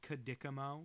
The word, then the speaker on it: Chidichimo: But it's Kadikamo, so I guess his name would actually be like Kitty, Cuddy, whatever.